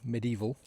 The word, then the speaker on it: medieval: It is four syllables, but I always say medieval.